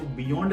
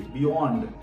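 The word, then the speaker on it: beyond: वाई ओ एन डी इसको बियोंड नहीं पढ़ा जाता बी ंड ओ बोलिए बियोंड बीई वाई ओ एन डी बियोंड then prayer spelling देखिए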